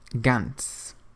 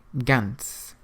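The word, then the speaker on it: ganz: really look like English Gant Gant it means absolutely The Zed on the end of the word Gant is pronounced as though it were TS Gant means absolutely so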